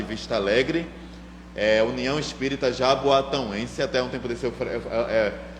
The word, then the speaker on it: Jaboatão: Alegre eh União Espírita Jaboatão até um tempo desse eh mesmo Trabalhador de lá eu pronunciava errado Jaboatão Mas quem nasce em Jaboatão é Jaboatão então é